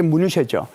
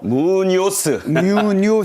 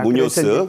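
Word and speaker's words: Muñoz: 그러면서 이제 현대자동차 CEO 겸 거기에 사장인 호세 무뉴쇼죠. 호세 무뉴쇼. 무뇨스. 발음 힘드시죠? 발음 잘 안 됩니다. 스페인어입니다. 무뇨스.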